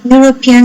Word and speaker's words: European: As for example, European scientist, and to pronounce this, we have to pronounce you.